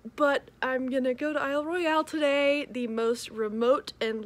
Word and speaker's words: Isle Royale: and today is the day i'm going to isle royale national park very excited about that and i know that most people pronounce it isle royal but that neither makes sense nor sounds good so it's isle royale that's how it's spelled um but i'm gonna